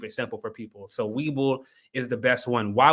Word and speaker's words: Webull: They're the best way they can start getting into checking out the stock market and investing is by first downloading apps like Webull.